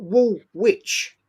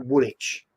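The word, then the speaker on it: Woolwich: Wool Witch Arsenal. Witch, right? It's actually Woolitch, right?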